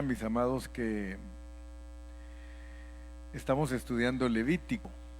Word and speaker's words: Levítico: Algunos hermanos le dicen Levíticos, pero la realidad es que en español es Levítico y en inglés sí es Levíticos, ¿verdad? Entonces algunos lo pronuncian como Spanglish, Levíticos, pero es Levítico.